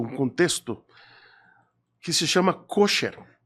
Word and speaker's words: kosher: temos um conceito, um contexto que se chama kosher. É isso? A pronúncia está certa? É kosher? Kosher ou kasher.